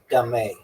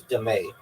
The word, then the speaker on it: dame: known as dame pronounced dé. Okay, also known as dé.